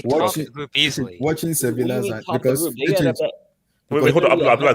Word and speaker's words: Sevilla: It's Sevilla. The L is silent.